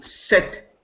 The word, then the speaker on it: sept: correspond to French to set Latin sept French in pronunciation has lost the P because it is final but in English in